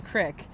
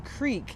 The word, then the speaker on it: creek: at my grandma's house I need to say that we played in the Crick because if we played in the creek it just sounds a little too pretentious and like it's weird